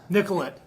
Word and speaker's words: Nicollet: You got to say it right. It's Nicollet. Nicollet.